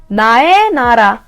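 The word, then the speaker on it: 나의 나라: is exactly this syllable If this syllable plays its grammatical role and be a sign for possession sound “e” For example, "nae nala" “nae nala” my country sounds “e” doesn’t need to pronounce”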